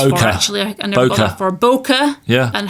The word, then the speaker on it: bokeh: my understanding is that the way that the Japanese would pronounce it is bokeh okay and it's not bokeh or you know any